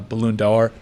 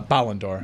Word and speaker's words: Ballon d'Or: Benzema the reigning uh balloon dollar uh winner I mispronounce that um uh Ballon d'Or yeah I always want to make it a balloon five dollars so I